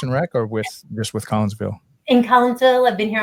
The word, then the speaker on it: Collinsville: Am I pronouncing that correctly? Yes. And it's Kimberly and Jared. Jared's the superintendent over in Collinsville, and Kimberly has been the Park and Rec